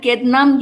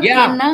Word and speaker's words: kedna: Amger kednam yeta. Yes. The D is pronounced over there. Ked. It's not kedna. Yeah. Ked. No. Kedna. In standard Konkani. Kedna. Okay. The D has to be pronounced.